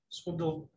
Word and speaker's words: Swindoll: famous uh pastor swindoll and uh but he's pronounced it swindle that's why he pronounced it yeah yeah he